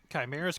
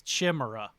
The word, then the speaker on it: chimera: you want all right chimera's gonna go growing up i always thought it was chimera that's because you are